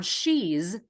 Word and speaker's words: she's: is in the pronoun she's this S at the end is pronounced as a z there are several important